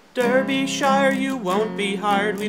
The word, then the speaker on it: Derbyshire: Derbyshire. Derbyshire. So I thought I'd make a song to help us learn how to say Derbyshire. If you say Derbyshire, you won't be hired, we don't like your stupid kind.